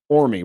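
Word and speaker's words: Orme: It's Ormy, right? Orm. Orm. Orm. Thank you. Gosh. The E is silent.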